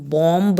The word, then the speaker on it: bomb: हम बॉम्ब नहीं बोलते हैं, वी से बॉम्ब. सो द बी is silent.